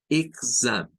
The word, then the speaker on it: exam: Exam. No es exam, es exam. Exam. Exam. Es con G. O sea, se suena con G y luego con zam.